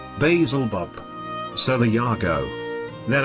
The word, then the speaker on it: Beelzebub: By the way, if you're reading this, oh Lord of the Worms, it's pronounced as spelled here, Beelzebub.